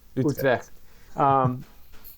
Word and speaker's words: Utrecht: But going into Tilburg and Breda and Utrecht, if I said it right. Yeah, How do you say it? Utrecht.